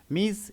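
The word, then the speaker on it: Ms: বাদে সকল ওম্যানের ক্ষেত্রে এম এস অর্থাৎ মিস pronounced মিস এম আই জেড এম আই এম এস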